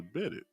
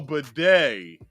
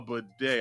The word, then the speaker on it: bidet: Hope I'm saying it right. Oh, bidet. A bidet. I said bidet.